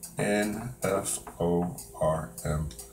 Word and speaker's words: planform: So let me PLANFORM. This is a wing plan form. That is how we pronounce it, plan form.